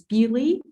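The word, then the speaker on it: Beaulieu: So actually the correct way to read this is Bewley.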